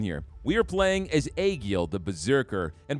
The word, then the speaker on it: Aegil: We are playing as Aegil, the Berserker. And before you guys correct me on the pronunciation, I Googled that, all right? That is how you say it.